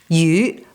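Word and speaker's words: 鱼: smoked salmon and prawns the chinese word for fish you rhymes with leftover and not in a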